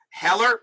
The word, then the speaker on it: Haller: Heller, all right, so it's pronounced Heller.